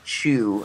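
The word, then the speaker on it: Chou: does actually star J I believe it's Chu is how it's pronounced C hou the guy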